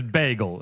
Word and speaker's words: bagel: It is, for the record, it is bagel, is how you say it.